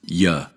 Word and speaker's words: you: The pronoun you isn't normally reduced when it's unstressed, although in some fixed phrases and situations, it's pronounced ya.